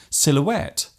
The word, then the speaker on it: silhouette: Other words containing silent letters such as campaign, silhouette, rhythm, and bureau are taken directly from other languages.